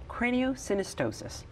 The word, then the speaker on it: craniosynostosis: Craniosynostosis. Mm-hmm. Did I pronounce it correctly?